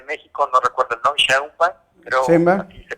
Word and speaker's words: Sheinbaum: La señora esta de la Ciudad de México, no recuerdo el nombre, Sheinbaum, pero así se pronuncia, ajá, que pues bueno, que por qué se están viendo que Argentina es Argentina, España es...